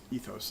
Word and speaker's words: ethos: I really push for that utilitarian ethics this ethos is the way you pronounce that word because I think that it